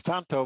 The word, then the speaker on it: Tanto: Am I pronouncing that? Is it Tanto? Yeah, it's Tanto, but yeah, it's close enough.